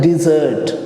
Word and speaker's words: dessert: तो ये देखिए, ये DESSERT और इसको हम प्रोनाउंस कहते हैं डिजर्ट। क्या? डिजर्ट।